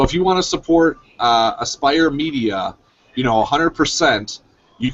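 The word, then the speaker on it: Aspyr: Aspire Media? Aspire. Okay, Aspire. Like aspiring. Aspire Media is the developer. Aspire Media is the developer. Gearbox and 2K are the publishers. So if you want to support Aspire Media, you know, 100%,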